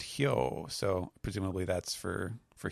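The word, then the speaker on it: 豹: there uh that is the kanji for uh leopard uh which is pronounced hio so presumably that's for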